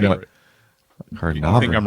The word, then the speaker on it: carnauba: But is it carnauba?